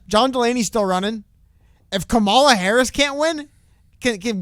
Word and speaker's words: Kamala: Kamala a camel camel it's not camel it's Kamala Harris but everybody says Kamala